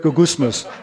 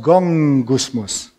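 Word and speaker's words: γογγυσμός: the english word go gusmus the greek word go gusmus and then actually me it's pronounced gong gusmus from where we get the english word gong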